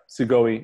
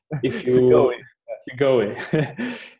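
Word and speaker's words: Segoe: How is it pronounced? Yeah, Sigoi.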